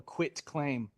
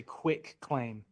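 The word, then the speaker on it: quitclaim: It's called the quit claim. A lot of people mispronounce this. They say quick claim.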